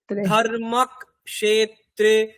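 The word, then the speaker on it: धर्मक्षेत्रे: কটাকে আমাকে ধর্মের সাথেই ক বলে দিতে হবে, ধর্মক, ধর্মক। তারপরে ক্ষেত্রে, কুরুক ক্ষেত্রে, ধর্মক ক্ষেত্রে, কুরুক ক্ষেত্রে, সমবেতা ইউয়ুৎ সবহ।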